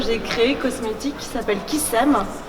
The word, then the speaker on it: Kissem: créée, cosmétique, qui s'appelle Kissem, qui s'écrit Kiss comme le bisou -M, mais qui se lit aussi Kissem, de s'aimer.